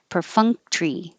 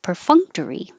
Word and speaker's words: perfunctory: confuse you um perfunct because your tongue goes up to the in the ng combination is the same position as g and k fung fung per funk tree per fung tree or perfunctory a perfunctory smile good humoredly